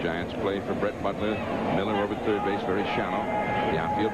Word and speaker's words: Mueller: and by the way although he spells his name Muller yeah he pronounces it Miller and I asked him